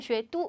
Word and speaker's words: 雪都: 난구어 雪都 라고 표현, 雪都 이때 뚜라고 읽겠다.